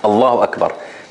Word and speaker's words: Allah: in the battlefield uh Muslims saying this word Allah with a soft lamb it's not going to sound very manly right like allahar right it's not very manly right so that's why that's why whenever when you reflect on it you will find that it is said with the strong lamb in in places where